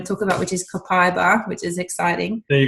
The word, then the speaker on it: copaiba: is, I'm going to talk about, which is copaiba, which is exciting. There you go. There's the pronunciation.